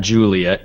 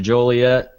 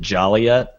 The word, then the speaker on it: Joliet: Juliet, but it's um it's not Juliet because it's an O and not a U. Um I pronounce it Joliet. The uh locals I think actually pronounce it Jolliott, but yeah, go with whatever you want there.